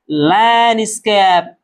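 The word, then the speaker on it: landscape: इसे पढ़ेंगे लैंडस्केप।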